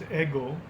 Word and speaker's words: ego: continuously refined ego is the latin word it's pronounced eggl just like the waffle eagle is the latin